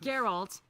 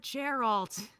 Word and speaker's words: Geralt: witcher garth oh yeah speaking of geralt why the is it not geralt i'm so upset it's just it's a soft g sound nobody calls people with g-e-r-r-y